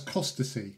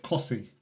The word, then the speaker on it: Costessey: Well, I would read that as costacy. Yeah. Yeah. Yeah. Right? They called it Cossy.